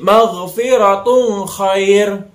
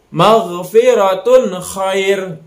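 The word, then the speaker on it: مغفرة خير: terang Hai maghfirotun Khoir Jangan sampai kita didengungkan membacakannya jadi maghfirotul Khoir nah itu yang salah ya itu jadi kita bacanya secara jelas maghfirotun Khoir maghfirotun Khoir Jadi dibacanya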